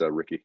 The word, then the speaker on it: Ricci: I pull ready Rick it's it's spelt Ricci but it's Ricky yeah okay you know